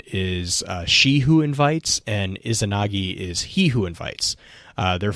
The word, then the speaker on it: Izanagi: Is Izanami and Izanagi, I think is how you pronounce that. The Japanese Izanagi, I think, Izanagi.